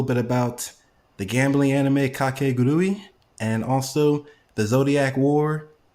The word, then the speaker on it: Kakegurui: That's such an easy word to pronounce. But the word you just said, I don't know. Kakegurui.